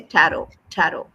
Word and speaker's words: tarot: So, you say tarot tarot. Tarot. T is Don't pronounce T. Last T don't pronounce.